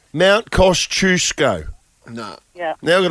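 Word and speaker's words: Kosciuszko: oh 100% I'm all about how things are pronounced mount cost chusco no yeah now you got to learn that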